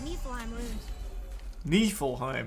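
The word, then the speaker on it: Niflheim: more one more and we can translate those knee full heim that's how you say it cool cool cool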